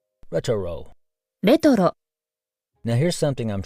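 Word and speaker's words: レトロ: Retoro. Now you know how to say retro in Japanese. Retoro.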